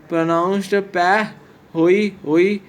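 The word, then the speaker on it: pahoehoe: Pehoi Hoi pronounced Peh Hoi Hoi is a basaltic lava flows that has a smooth and twisty rope-like surface.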